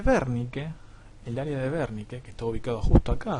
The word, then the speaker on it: Wernicke: área área área de wernicke área de bernie que así es como se pronuncia werning y por otro existe